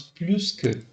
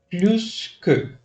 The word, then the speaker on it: plus que: Vous devez prononcer les S comme Z.